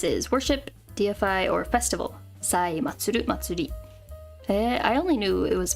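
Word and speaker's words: 祭: this and this is worship DFI or Festival Matsuri I only knew it was Matsuri I didn't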